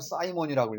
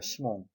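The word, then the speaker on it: Simon: 시몬이 아니라 영어로는 사이먼이라고 읽어요. 이거 뜻은 모래란 뜻입니다. 모래, 샌드, 그죠? 예. 불어에서는 시몽이라고 있습니다. 시몽.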